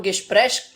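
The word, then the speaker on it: Gespräch: इसको हम गेस्प्रेश प्रोनाउंस करते हैं और इसको हम इंग्लिश में कहते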